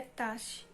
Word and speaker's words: Tash: Terminei de ler Teste Tolstói, que, por sinal, a pronúncia não é teste, é tache.